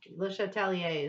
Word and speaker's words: Le Chatelier: Le Chatelier is fine. Yeah. I said American. Le No, you said it Chatelier. beautifully. You would normally not pronounce the R.